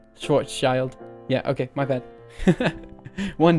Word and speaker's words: Schwarzschild: of domain morphing that I invented let's see Schwartz child oh is that how it is pronounced sorry that sounds correct Schwarzschild yeah okay my bad one day one day